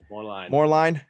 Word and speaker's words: Moerlein: Moerlein? Moerlein.